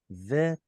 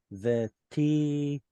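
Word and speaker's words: וטהרת: ישראל, Now this is a tet, not a mem. V'tiharta, והתחרת, switch these two. V'tiharta, והתחרת otam.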